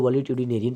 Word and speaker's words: valetudinarian: इनके लिए एक शब्द और है, बहुत इंपॉर्टेंट शब्द है, नेरियन, NARIAN, वॉलीट्यूडिनेरियन, VALETUDI, ये डी है, VALETUDINARIAN, वॉलीट्यूडिनेरियन। इसको वॉलीट्यूडिनेरियन पढ़ेंगे।